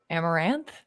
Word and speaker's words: Amaranth: Amaranth? Yes, that is correct.